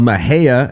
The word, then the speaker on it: Mexia: we filmed uh a Maha episode Y and for those that have no idea where that is look for Mexia on a map you'll be like oh okay meia and then say it right and then say it